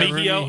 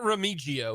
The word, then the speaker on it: Remigio: Did I get it right? I get it 100% right? Remigio. Yeah, Remigio. Okay, good. Not Remigio. Yeah, I know he tweeted out how to pronounce it, so I want to make sure that I get that right.